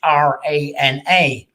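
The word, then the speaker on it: hrana: has an age in it so it's h r a n a so it's pronounced as rana and elsewhere uh going up to north up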